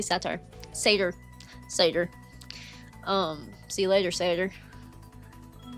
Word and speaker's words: satyr: Satire. I always say satire. Satyr. Satyr. See you later, Satyr. How do y'all pronounce Satyr or whatever? I always say it wrong because I'm country.